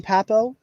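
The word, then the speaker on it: Pappoe: After that, Owen Papo, who did I say his last name right?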